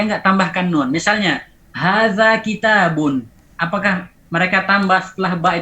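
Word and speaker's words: كتابٌ: Jadi tanwin itu hanya ada pada pelafalan, tidak ditulis. Ada, suaranya ada tapi tidak ditulis. Waslan la waqfan. Ingat ya, waslan la waqfan. Hanya ada pada wasal. Misalnya kitabun unzila ilaika.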